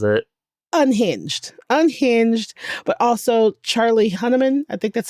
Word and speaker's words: Hunnam: Unhinged, but also Charlie Hunnam.